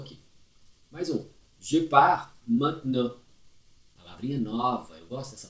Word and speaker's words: maintenant: Je pars maintenant. Je pars maintenant. Je pars maintenant. Maintenant. Ele é bem nasal. Tem gente que fala maintenant. Não pronuncia o T lá no final, por favor.